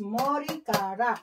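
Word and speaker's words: 머리카락: Hair, hair, yung book natin is Mori Kara. Okay? Mori Kara.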